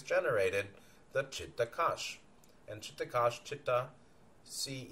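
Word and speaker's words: चित्त: And Chittakosh, Chitta, see, even though they spell it C-H-I-D-A or C-H-I-D, it's the same as C-I-T-T-A.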